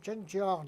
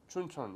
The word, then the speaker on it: Chuncheon: I've been in Chincheon, how do you say it? Chuncheon, yes.